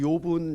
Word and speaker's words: 욥: 사람의 이름으로 발음할 때는 이제 job으로 발음하는 것이고요. 사람의 이름이 아니라 이제 JOB, 이제 직업이란 뜻이 있어요. 직업으로 발음할 때는 job 이렇게 발음하는 겁니다. job. 우리는 이제 이 욥기를 읽을 때는 이제 영어로 JOB 이렇게 돼 있는데 job 이렇게 읽으면 안 돼요. job 이렇게 job으로 읽어야 되고, 우리말로는 욥 이렇게 되는 겁니다.